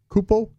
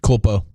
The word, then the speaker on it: Culpo: Culpo, Culpo, Culpo, Culpo. Culpo. Okay. I think you got to pronounce the L in there. Yeah, the L's not silent on that one.